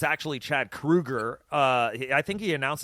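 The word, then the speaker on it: Kroeger: to we got to remember it's Chad Krueger we've been saying his name wrong for years and he yeah he had just he just did an interview and he said everybody had just thought it was Kroger and so he just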